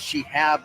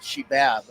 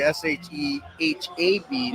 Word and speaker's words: Shehab: She said that the third base umpire's name is Shihab, not Shibab. Okay. I guess everybody got confused in game number 1. That was a TV game, right? It's actually Shehab, not BAB.